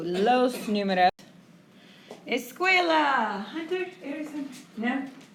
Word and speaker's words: números: Así se pronuncia. Énfasis en la U. Los números.